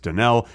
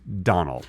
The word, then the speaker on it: Donnell: Yeah, we just heard on the Patreon-only bonus section, Danielle O'Brien said, by the way, my name is not pronounced Danell, it's pronounced Donnell.